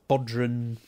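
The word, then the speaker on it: bodhrán: Do a really nice Bodhran, that's how I pronounce it, the Irish drum.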